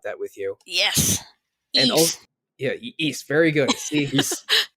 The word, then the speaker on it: Ys: And Ys, very good. See, there is no way to get me to roll my eyes harder than if someone pronounces it wise.